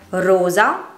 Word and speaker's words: rosa: Queste parole sono dunque uguali nella scrittura ma ben diverse nel significato e grazie alla pronuncia differente della loro E o della loro O le possiamo distinguere.